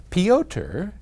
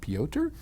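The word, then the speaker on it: Piotr: peoter in poland and forgive me if i have butchered your name i assume it's some version of peter it's p-i-o-t-r pyotr anyway he writes to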